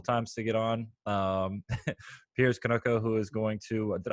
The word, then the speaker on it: Kaniuka: tried a couple times to get on piers Conoco who is going to did I pronounce her last name correct konoka yeah Nuka okay and today piers is going